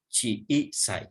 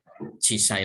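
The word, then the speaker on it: 小さい: Chi i sai ya. Jadi jangan chisai langsung. Jangan satu atau tanpa i ya, tapi harus ada i-nya.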